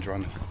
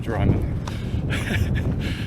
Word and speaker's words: Drymen: I've googled how to say Drummen, not Drymen. So, uh yeah, sorry for butchering that. It's uh actually Drummen, which yeah, again, I think I'm pronouncing that correctly, but it's not Drymen, it's Drummen, so that's just the